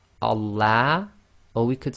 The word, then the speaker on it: Allah: so be very careful it's Allah and that's the effect of having the sound of fata before the lamb of Allah okay now we'll talk